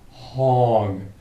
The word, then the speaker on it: hong: your mind draw out the sound of the syllable hong, H-O-N-G.